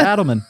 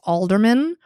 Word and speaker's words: Adelman: go ahead and say a good hang Adelman how are you oh my God you pronounced my last name correctly I know I